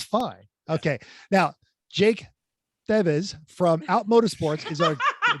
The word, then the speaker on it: Thiewes: We've already- It's pronounced Thiewes. It's German, at least we're Ah, pretty sure.